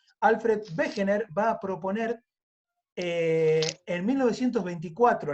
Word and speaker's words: Wegener: Wegener se escribe Wegener con W porque en alemán la W se dice como B corta. Alfred Wegener va a proponer en 1924 la teoría.